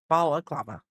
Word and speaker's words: balaclava: Balaclava.